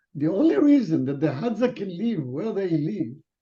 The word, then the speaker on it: Hadza: The Haztag. Hadza.